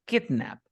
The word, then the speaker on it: kidnap: Dice, la primera sílaba tiene el estrés, es kidnap, kidnap.